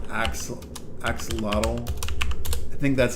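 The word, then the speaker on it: axolotl: There we go. Axelottle. That's how you pronounce or that's how you say it.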